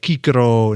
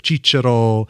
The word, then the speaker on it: Cicero: Every C is a hard C. Kaisar, Cicero instead of Cicero, etc.